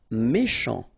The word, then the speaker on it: méchant: Méchant. Final T not pronounced. Then C-H, sh, chant, méchant. Inhabituel.